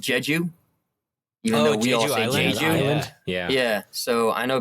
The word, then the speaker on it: Jeju: um uh i think it's supposed to be pronounced jeju yeah yeah so i know people can spend